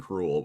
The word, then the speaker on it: K. Rool: K. Rool. Is it K. Rool or I guess we'll find out. I think they say cruel in the show, but I know it's spelled K. Rule.